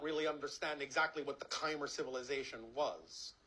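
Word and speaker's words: Khmer: understand exactly what the kimer civilization was is kimer pronounced today as Kamai in the Cambodian language you can ask a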